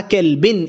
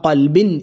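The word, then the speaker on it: قلب: ഇലാഹന്നാസി ജമ്മിൽനി വദാ ഖൽബിൻ. ശ്രദ്ധിക്കണേ, ഖൽബിൻ പുള്ളിയുള്ള കോഫാണ്. കേഫ് പറയരുത്. വദാ കൽബിൻ എന്ന് പറഞ്ഞാൽ അവിടെ നായ എന്ന അർത്ഥം വരും. നേരെ മറിച്ച് വദാ ഖൽബിൻ എന്ന് പറഞ്ഞാൽ അവിടെ ഹൃദയം എന്നാണ് അർത്ഥം വരിക അല്ലെ.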